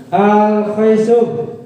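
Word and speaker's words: الخيشوم: Cara bacanya begini. Al-khaisum.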